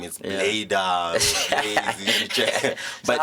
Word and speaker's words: Baida: Baida to them is oh, Baida. Yeah, how they pronounce it is just a bit some they mistaken different, it with my name. It's Baida.